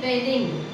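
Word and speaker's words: bathing: बी ए टी एच बट उच्चार जो येतो आय एन जी च्या वेळेस त्याचं प्रोन्सिएशन जे येतं ते होणार आहे बेदिंग बेदिंग काय उच्चार बेदिंग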